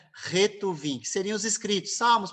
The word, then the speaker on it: Ketuvim: ou ruvim tá bom você vai ouvir essas duas pronúncias aí a pronúncia a que a gente percebe mais correta é retu viim que seriam os escritos